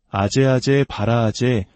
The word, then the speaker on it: 아제아제 바라아제: 한국에서는 이를 소리나는 대로 아제아제 바라아제 바라승아제 모지 사바라고 읽습니다. 그 뜻은 가자, 가자, 저 피안으로 가자.